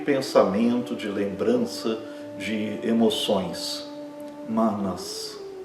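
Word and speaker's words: मनस्: Manas. Não é manas. Manas. Um A fechado e a pronúncia é rápida desse A.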